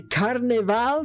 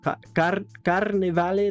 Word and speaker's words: Carnevale: The Carnaval de Varese, I think that's how you pronounce it. Carnevale de Varese.